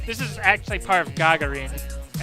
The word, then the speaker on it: Gagarin: is actually part of Gagarin, and I'm pronouncing that way instead of Gagarin, because it's how they pronounce it in game, and I suspect it's closer to the Russian pronunciation.